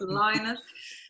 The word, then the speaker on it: Lynott: to say Phil Lynott, I keep pronouncing it wrong. Dubliners say it wrong, it's Lynott for anyone out there.